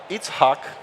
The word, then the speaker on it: Itzhak: Last but not least, Itzhak. Wow, you pronounced it amazing.